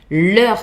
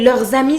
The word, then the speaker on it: leurs: In that case, you see, if you have a word that starts with a vocal like friends, for example, amis, you would say leurs amis sont français. Leurs amis. You would do the linking with the final S. Leurs amis sont français. Their friends are French. That works too. But if it's a normal consonant, then you don't hear the final S. You write it though.